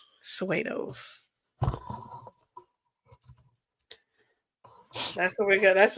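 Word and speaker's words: pseudos: So um I think the way you do it you got to put a P in front of the S. Nerdy Brew the P is silent. Suos, that's what we got.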